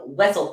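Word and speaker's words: Wesell: I always pronounced it wiel and we're like get out um and then we looked at Wikipedia and this is the worst part Wikipedia has it Zam wessell pronounced wessell or wiel and the Legends description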